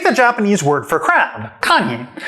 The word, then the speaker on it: kani: So take the Japanese word for crab, kani. Now those are 2 syllables, ka, ni, and Japanese represents them with 1 character each.